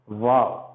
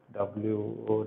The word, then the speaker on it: Vav: Okay, and the next letter is Vav. Okay, Aleph, Beit, Gimel, Dalet, Hey, Vav. Now let me write. Vav. Sometimes it is pronounced as VAV, or sometimes it is pronounced as WOW.